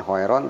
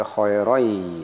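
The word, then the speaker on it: خيرا: Khair ini madlin, kemudian ada tanwin patah, nah berhadapan dengan huruf ya sehingga dibacanya misqala darratin khairoi. Ya ini ada huruf ya, ada tanwin ini sehingga dibacanya bukan khairon tapi khairoi, ya.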